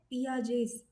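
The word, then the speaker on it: Piaget: पहला है पियाजेस ही इज a Swiss psychologist तो उसका नाम ऐसे ही प्रोनाउंस करते हैं। Even though we write पियाजे we pronounce it एस पियाजेस cognitive development theory.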